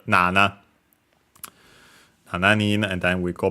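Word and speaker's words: 七: gone in brokunin uh technically also for seven shining but uh more often than not uh than not nowadays we use the strictly Japanese reading also for that nana nan and then we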